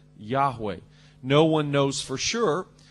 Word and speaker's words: Yahweh: we often say Jehovah probably the Hebrew pronunciation is something like Yahweh no one knows for